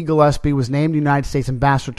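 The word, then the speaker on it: Glaspie: Her name is more properly pronounced Gillespie.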